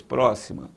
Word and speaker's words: próxima: Depois, próxima, próxima. Última, penúltima, antepenúltima.